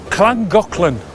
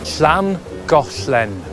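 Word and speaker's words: Llangollen: this will test you the most common mispronunciations of this one are clang Golan usually by the scousers sorry scousers and Lang Goan by everyone else but now you've perfected Your Dragon's hiss in chapter one we feel you're ready for this one schan Goen with its beautiful castle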